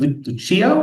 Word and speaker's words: Lucio: All right, so next up we have Lucio.